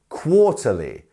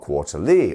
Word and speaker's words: quarterly: have our DOT here so it is on the quar quarterly not quarterly or quarterly you see that just